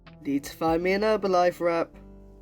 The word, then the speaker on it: Herbalife: would pronounce that as herbalife and it does interest me that in some but not all american accents the h in herb is dropped but not only is